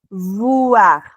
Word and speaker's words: voir: Entonces, la diferencia para la V es dentilabial. Utilizamos los labios superiores, perdón, los dientes superiores con el labio inferior. Entonces es voir.